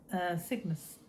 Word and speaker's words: Cygnus: Cygnus, like a Cygnet.